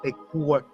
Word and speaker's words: Ekur: It's actually pronounced Ekur.